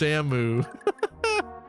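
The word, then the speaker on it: Samus: Yeah, the main character of Metroid's name is pronounced Samu.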